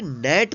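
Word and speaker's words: gnat: एन ए tea stall ग्रेट नहीं पड़ेगी क्या करेंगे नेट पढेंगे क्यों क्योंकि यहां पर जो है ध्यान से पहले जी आया है तो जी का उच्चारण नहीं होगा यहां पर जी के हाथ साइलेंट लेटर है तो नेट नेट मींस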